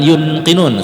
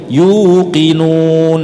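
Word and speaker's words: يُوقِنُونَ: Walladzina yu'minuna bima unzila ilaika wa ma unzila min qablik wa bil akhirati hum yuqinun. Bukan yunqinun, seringkali kita bacanya yunqinun padahal itu adalah waw sukun ya. Jadi yuqinun.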